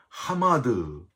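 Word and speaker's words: חמד: 말라 해서 지라는 단어는 히브리어로 하마드 발음을 합니다 이스라엘이 싸우는 하마스 좀 발음이 비슷한데 열망하다 갈망하다 그런 뜻을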